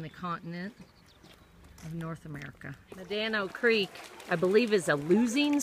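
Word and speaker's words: Medano Creek: sand dune in the continent of North America manano Creek I believe is a losing stream that means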